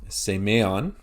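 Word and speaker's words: σημεῖον: And thirdly, circumflex, semeon. So it's not semeon, it's semeon.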